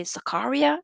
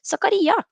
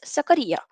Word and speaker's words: Zakaria: didn't really understand why so many people say zakaria it's like what are we why are we pronouncing it like that sakariya dennis sakaria is what i'm going to say robert says richie decent